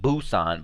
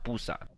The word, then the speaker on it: Busan: don't you know busan it's called busan apparently so so i guess american people pronounce it busan but it's a p sound busan jk and jimin are